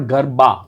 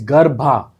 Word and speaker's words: Garbha: The true meaning or the true pronunciation is Garbha. It's not Garba, it's Garbha. Garbha means गर्भ.